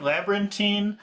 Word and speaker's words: labyrinthine: Do you like labyrinthine or bustling? I will stay with labyrinthine Labyrinthine? because of the Okay. pronunciation. Okay. Labyrinthine. Labyrinthine. You could say labyrinthine if you want, but I just say labyrinthine.